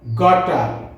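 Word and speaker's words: gotta: যেমন ওয়ানা, গনা, গটা, অটা এবং গচা।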